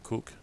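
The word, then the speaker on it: Coke: in Greece called David Koch see oh-kayyy apparently pronounced kook David Cook was the godson to the King to King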